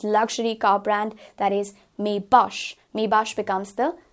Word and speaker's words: Maybach: pronunciation for this luxury car brand, that is Maybach becomes the correct pronunciation.